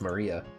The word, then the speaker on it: Maria: is written that thing of course whatever is pronounced Maria the third character looks like a cross which